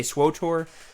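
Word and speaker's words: SWTOR: a gamer than me you say swotor but it's not spelled that way there's no extra oh because then it would be star wars of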